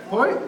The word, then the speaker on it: poi: Poi is spelled P-O-I.